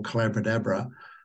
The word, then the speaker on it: Collabradabra: what is now what I call collaborate Abra which rhymes with Abracadabra or the magic of